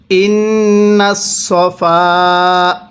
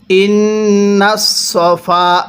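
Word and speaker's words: إن الصفا: তাহলে পড়ুন ইন্নাস সফা। হ্যাঁ, পড়ুন ইন্নাস সফা, এরপরে ওয়াল মারওয়াতা। হ্যাঁ, কিভাবে পড়ব? পড়ুন ইন্নাস সফা। ইন্নাস সাফা পড়বেন না, সদ জবর সা পড়া যাবে না।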